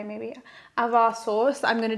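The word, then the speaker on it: ajvar: I got a aar, I think, cuz you don't pronounce the J. Maybe avar sauce that I'm going to do with some Croatian pasta that I picked up.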